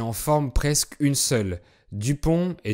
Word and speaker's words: Dupond: forment presque une seule, Dupont et Dupont. Alors comme vous le savez, les consonnes à la fin des mots en français sont muettes, et le nom de